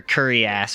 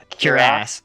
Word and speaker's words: cuirass: So he hurls it and it breaks on your curry ass or whatever, however the fuck you pronounce that word. Cuirass.